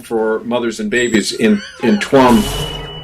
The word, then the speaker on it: Tuam: Mary's Home for Mothers and Babies in Tuam. It's pronounced Tuam, actually.